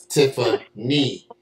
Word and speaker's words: Tiffaney: That's N-E-Y, not nay, knee. Tiffany.